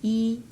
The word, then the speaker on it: 一: And pronounce like E. Not much to say about that. You know, E have to change the pronunciation to if it's in front of a falling tone, you have to say change it to if it's the if it's from the third tone, first tone, or second tone, or third tone,